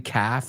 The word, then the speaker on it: calf: Se escribe como half, pero en vez de H es con C. Y la L como half es muda, right?